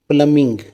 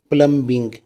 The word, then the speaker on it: plumbing: This is the word plumbing. People read it plumbing. B is silent in this word.